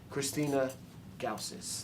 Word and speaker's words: Christina Gausas: theater was this lady, Christina Gausas. Did I say it right? Yeah, perfectly. Perfect.